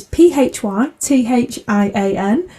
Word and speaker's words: Phythian: It's Phythian.